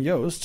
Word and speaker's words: Yost: Because Jordan Yost. I want you to remember how to pronounce that.